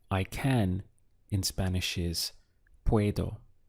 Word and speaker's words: puedo: In mini course 1, we learned that I can in Spanish is puedo. We have two syllables, pue and do. So together, puedo.